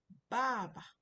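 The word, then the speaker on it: 爸爸: Baba baba. You can see my pronunciation of baba. It's not baba is baba. The other ba is is toneless. Toneless doesn't have any tone which means father.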